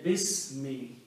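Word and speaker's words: بسم: Also, when we read together, we do not pronounce this alif. We say bismi.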